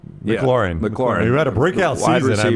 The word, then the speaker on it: McLaurin: McLaurin.